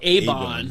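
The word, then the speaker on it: Eibon: And there's a woman with totally white eyes who's reading from a book called, it's spelled E-I-B-O-N. They call it Avon, right? Yeah. That's how you pronounce it?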